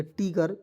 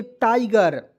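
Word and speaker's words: tiger: तरह आप लिखते हैं जीई आर को गर लिख देंगे टीगर बिल्कुल गलत है दोस्तों इसे पढ़ेंगे टाइगर जैसे ए देखिए मैं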